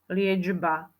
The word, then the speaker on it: liečba: za sused neznel párovú slovo liečba čo si tam počul Počul si tam č alebo dž liečba No ja tam počujem dž ale nepíšeme tam dž Pozor na to píšeme tu č a prečo tu dochádza